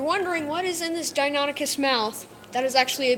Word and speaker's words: Deinonychus: Dominican.